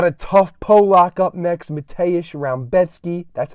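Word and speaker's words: Mateusz Rębecki: We got a tough Polak up next, Mateusz Rebecki. That's how you pronounce it.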